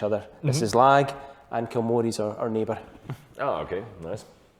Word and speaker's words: Kilmory: Kilmory is how people pronounce it. Kilmory.